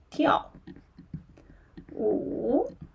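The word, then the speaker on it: 跳舞: wo hui wo hui Okay, yeah, t i ao tiao wu wo hui tiao wu tiao So, here tiao wu means I can dance.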